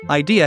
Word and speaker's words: idea: For example, idea has 3 syllables, I, D, and ya.